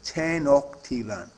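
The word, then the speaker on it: Tenochtitlan: comparison skills keywords are tenan that's how you pronounce this word tenan Lake IR Causeway a raised roadway out of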